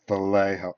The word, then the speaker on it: Vallejo: Vallejo. Whenever I get on video, I always say it wrong, and people go, it's Vallejo.